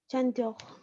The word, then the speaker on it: chanteur: Chanteurs. Ok. Recuerda que aquí en el francés CH se pronuncia como SH.